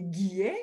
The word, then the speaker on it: Guillet: Mon prénom est et mon nom de famille est Guillet. Le Guillet, c'est comme le mois de juillet, mais on remplace le J par un G. Donc, Guillet, vous pouvez venir me rejoindre sur mes réseaux sociaux, Facebook et Twitter.